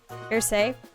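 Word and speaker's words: Arseille: It's French, right? Ersay.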